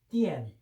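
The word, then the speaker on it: 电: 그러면 견, 견, 띠엔. 발음은 중국 발음은 띠엔.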